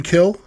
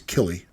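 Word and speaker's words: Kille: So this is I guess Eastern Kill is how you pronounce it. K I L L E. I don't think it's Killy.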